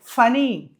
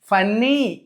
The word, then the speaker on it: funny: FUNNY, ఫనీ. ఫన్నీ కాదు, SUNNY, సనీ. ఇలా చూసుకున్నట్లయితే whenever you find two letters together in the middle of any English word, you have to pronounce only one letter.